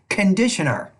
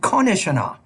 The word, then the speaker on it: conditioner: The student was trying to say conditioner, but instead said conditioner. Conditioner or conditioner, you're pronouncing this basically the same sounds in both words, but the stress is different.